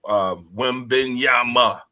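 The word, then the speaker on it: Wembanyama: But first and foremost, we got to talk about Wembenyama. That's how you pronounce it.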